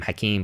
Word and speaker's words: Hakim: I pronounce my name Hakim, but I write Hakim.